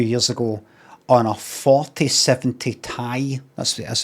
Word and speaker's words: Ti: because I splashed out a fortune a few years ago on a 4070 Tai that's that's how you pronounce it RTX graphical card for you so